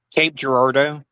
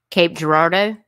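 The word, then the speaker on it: Cape Girardeau: Cape Gerardo. Cape Gerardo.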